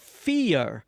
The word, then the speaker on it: Feir: pronunciation correct right um they're called fear right right it sounds like yes like the word fear that god's scared you know being afraid um but it's they're spelled f-e-i-r instead okay so who